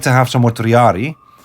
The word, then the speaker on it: triarii: I would like to have some more triari. Or triarii, depends on... Yeah, it's a pronunciation thing.